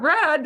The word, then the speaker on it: read: And we even spell it the same way, but we pronounce it differently, read and read.